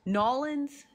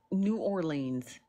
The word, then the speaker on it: New Orleans: It's New Orleans, okay? That is how it is spelled. It is a 2-word city, okay? We're not going to say it with no Creole, country, Southern, parish, voodoo accent, okay? We just going to say New Orleans, okay?